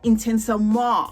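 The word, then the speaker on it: Intensément: So this is YSL Intensement or Intensement or Intensement, because I believe the nt is silent.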